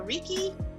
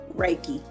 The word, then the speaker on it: Reiki: i say it right is it reiki or rikki reiki reiki we talking about the reiki in massages